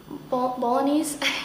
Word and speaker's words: bolognese: It's the bolognese, that's how you say it.